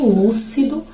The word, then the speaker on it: lúcido: Em lúcido, o lu, aí a sílaba lu é a nossa sílaba tônica, logo temos a palavra proparoxítona.